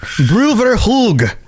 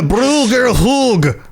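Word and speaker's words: Brouver Hoog: I'm a Bruger Hoog. I didn't even say it right that same time. Yeah, I just committed to the accent too hard.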